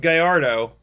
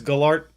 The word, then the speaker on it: Gallardo: I was pretty sure it's pronounced Gallardo. Somebody the other day said, no, it's Gallart. Oh, God, no! Yeah, somebody the other day said it's actually Gallardo. I think they're dumb, though.